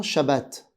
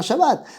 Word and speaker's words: Chabat: nom de l'acteur Alain Chabbat après on va me dire que le thé ne se prononce pas et qu'on dit à Alain Chabat enfin bon Alain Chabat d'ailleurs je me rappelle